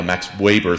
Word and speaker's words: Max Weber: graduate students who knew how to pronounce Max Weber's name with a V and not a W. I walked around campus saying, "Oh yeah, Max Weber thinks," and people looked at me thinking, "What program are you in?"